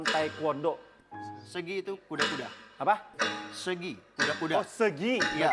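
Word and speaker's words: 서기: Segi, kuda-kuda. Oh, segi. Iya, Bacanya segi.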